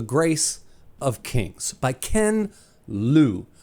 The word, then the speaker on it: Liu: Kings by Ken luu I really want to say Leu because it's spelled exactly like xiin Liu's name but I think it's pronounced L because I think I've heard him pronounce it that way and if that's how Ken pronounces his name that's probably how I should pronounce it too first things for spoiler